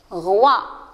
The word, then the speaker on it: roi: Ici, vous avez un roi, R avec « oua ». Se prononce « roi ».